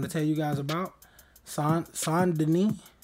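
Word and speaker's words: Saint Denis: tell you guys about son denis that's how you pronounce it in story mode but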